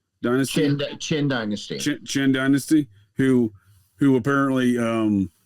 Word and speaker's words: Qin: How do you pronounce that? QIN dynasty. Qin dynasty.